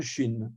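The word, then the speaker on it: Shin: c'est c'est une lettre qu'on va prononcer donc la 21e et avant-dernière lettre à prononcer ch on appelle ça une consonne fricative poste alvéolaire sourde donc ch comme une dent et alors on voit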